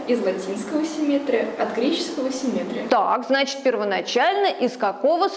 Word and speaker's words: симметрия: Как же правильно произносится это слово? Произносится правильно симметрия. Симметрия.